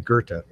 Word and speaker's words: Goethe: I believe the correct German pronunciation, I have a German in the audience right now, is Goethe.